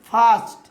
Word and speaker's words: first: দেখুন যেমন বলছে উদাহরণে FIRST, দেখুন সবার মধ্যে আই আর আছে, তার পাশে কনসোন্যান্ট আছে, তাই এখানে আয়ের উচ্চারণ কী করবো? ইয়া। মানে ফার্স্ট, ফার্স্ট মানে হচ্ছে প্রথম।